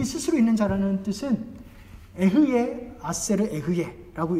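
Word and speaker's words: אהיה אשר אהיה: 다음 보시면 이 스스로 있는 자라는 뜻은 에흐예 아세르 에흐예라고 읽습니다.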